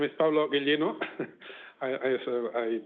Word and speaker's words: Ghiglino: hello hello everyone yes my name is Pablo Gino I I I pronounce it correctly I'm here to present the